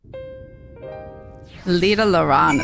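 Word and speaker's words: Lydha Lran: Lida Loran is how you say it.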